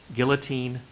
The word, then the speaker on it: guillotine: Two well-known pronunciations of this word. Guillotine or guillotine.